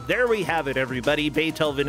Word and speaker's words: Beethoven: we have it everybody Beethoven is pronounced with the emphasis on the first syllable that was a great